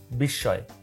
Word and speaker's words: বিস্ময়: হচ্ছে আবেগ বা বিস্ময় এটা বিস্ময় না বিস্ময় উচ্চারণ না এটা উচ্চারণ হচ্ছে বিস্ময় আবেগ বা বিস্ময় ও